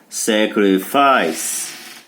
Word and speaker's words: sacrifice: E por que o segundo é I? Boa pergunta. Sacrifice. Lembrando que as sílabas em inglês, gente, é por som. Sacrifice. Tem 3 sílabas. Então o primeiro I não está na sílaba do E. Então é como se o E não existisse para ele. Então é sacre. Já o último I está na sílaba do E. Então é ice. Então sacrifice.